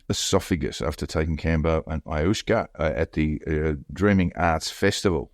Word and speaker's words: ayahuasca: Antonovich died from a ruptured esophagus after taking Kambo and ayahuasca. How do you pronounce it, Joel?